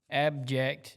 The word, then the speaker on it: abject: heard the word AB abject not object but object spell it a b j e c all right that's